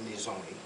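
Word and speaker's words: Nizhoni: The name of the CD is called Nizoni. It's a Navajo term, and it's spelled Nhizoni, and translated into this English language.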